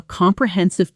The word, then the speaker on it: comprehensive: The stress lands on the third syllable, and many learners either stress the wrong syllable or add extra weight to syllables that should stay light.